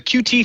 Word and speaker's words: Qt: never guessed that uh the QT framework which I know is pronounced cute everyone always emails me that I say QT because there's a lot